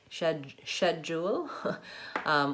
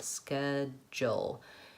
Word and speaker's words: schedule: They would say schedule, I'm not saying that right, schedule. We tend to say ske with a K sound, schedule. And also there's a kind of a hidden J sound in there.